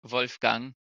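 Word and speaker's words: Wolfgang: watching this I I I do know that his name is like supposed to be pronounced Wolf Gang but the Wolf Gang just sounds kind of funny H also they're all American so they get the American treatment when it comes to pronouncing foreign names when did you see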